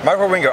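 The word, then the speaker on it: Wieringo: Michael Ringo.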